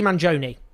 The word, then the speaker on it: Mangione: mang's violent act manone Luigi manone let's get the pronunciation right a lot of discussion